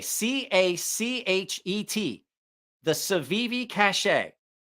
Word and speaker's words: Cachet: It is the Civivi Cachet. Cachet. The Civivi Cachet. It's a French word. The T is silent.